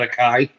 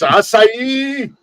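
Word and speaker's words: açaí: the aai very and you have to say it like that oh it's not a Kai yeah no it's aai uh you gotta say it just like that but they also life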